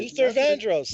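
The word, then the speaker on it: Luther Vandross: Luther man Luther vro I believe I can't pronounce his name you got it Luther vandros yes I know Lu all right I think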